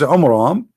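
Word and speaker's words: Amram: So Muhammad, he could not even copy the name correctly from the Bible about the father of Moses, which is Umram, not Umran. Imram. Wrong pronunciation, wrong name.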